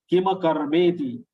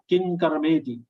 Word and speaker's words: किमकर्मेति: Most of them are pronouncing it as halanta. I will show you how they are pronouncing. King karma kim karmeti. King karma kim karmeti. This is wrong. King karma kima karmeti. Ma is to be pronounced full, not half.